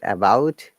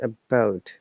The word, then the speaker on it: about: So this word about, remember, it is not about. If you're saying about, then it's the wrong pronunciation. It's about, because the A is the shasan.